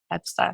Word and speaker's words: Ebsta: So Ebsta. That's how I say Yeah. it. Ebsta. Beautiful.